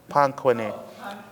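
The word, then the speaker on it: Panquinet: How do you spell it? Panku is P A N Q U I N E T. Panku. Pin. Yeah. Pangquin.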